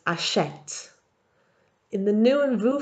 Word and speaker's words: achète: and elle plural forms, the E has a grave accent and so it's pronounced achète.